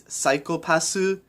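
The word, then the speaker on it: サイコパス: The joke is that the way you pronounce psychopath in Japanese is psychopassu.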